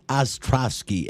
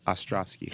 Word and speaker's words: Ostrovsky: day and I said Ostrosky you've got the V in there the show is also